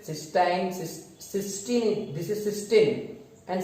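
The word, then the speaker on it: cystine: But here these amino acid सिस्टीन, सिस्टाइन, सिस्टीन, this is सिस्टीन एंड सिस्टाइन is different. सिस्टाइन, दो spellings है, okay, this is different, but वी are studying this सिस्टीन, TEINE।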